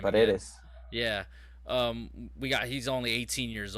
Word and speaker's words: Paredes: Paredes.